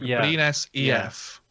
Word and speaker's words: Brynäs IF: So the I sound is like an E sound. So it's like Brynäs EF. Yeah. Okay, Brynäs. I is the letter is pronounced E.